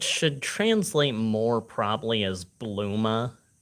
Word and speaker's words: Bulma: translate more probably as bluma her name is supposed to be like Bloomers like the underwear but they how they